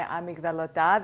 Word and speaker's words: amygdalota: Greek almond meringue cookies my amigdalota that's how you say it in Greek except this time I